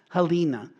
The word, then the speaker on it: Helena: might want to know his mother Helena or sometimes pronounced helina she was a Christian